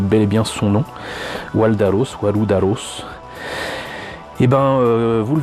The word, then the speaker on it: Waldalos: le voit écrit là je rappelle que les Japonais prononcent de la même manière le R et le l donc ça explique beaucoup de choses donc là c'est bel et bien son nom waldaros wudaros et ben vous